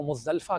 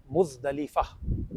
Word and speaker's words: مزدلفہ: سب سے پہلے تو یہ بات یاد رکھیں کہ ہمارے ہاں اس لفظ کو مزدلفہ کہہ رہے ہوتے ہیں، مزدلفہ نہیں ہے، یہ عربی زبان کا لفظ ہے، اس کا درست تلفظ ہے مزدلفہ، اور اس کے کئی